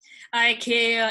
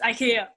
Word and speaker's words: IKEA: okay the third one come on i care ikea depending on how you're going to pronounce it but yes it's ikea yeah and i think this